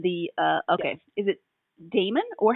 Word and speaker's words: Daemon: book one in the uh okay is it Damon or how do you pronounce d a e m o n Damon okay I thought so but all right that's